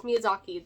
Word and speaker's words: Miyazaki: Yes, Miyazaki.